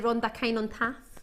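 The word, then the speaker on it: Rhondda Cynon Taf: So I hope I'm saying it correctly when I say Rhonda, Kine and Taft.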